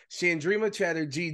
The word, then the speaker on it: Chandrima Chatterjee: bonus episodes like she's practically a damn co-host chandrima Chatterjee joins us did I get the pronunciation right finally yes new year new new